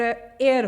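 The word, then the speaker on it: heir: Elizabeth थी, उसका हेयर एयर है, एक्चुअली एच जो है ये साइलेंट है यहाँ पे, तो उसका एयर आ गया किंग चार्ल्स का एयर आ गया प्रिंस विलियम।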